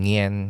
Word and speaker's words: Nguyen: Ah halimbawa kapag sa Vietnam ganyan yung Ay oo naman yung nguyen ngen ganyan tapos yung sa mga Chinese names ang pronunciation ng names nila una yung apelyido mm sa first name.